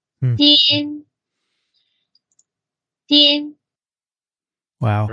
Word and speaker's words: Dian: It's spelled DIAN, and here's how that's pronounced. Din. Din.